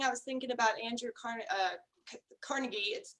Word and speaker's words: Carnegie: And as you were talking, I was thinking about Andrew Carnegie. I say Carnegie, and I think some other people might pronounce it Carnegie, but it's weird that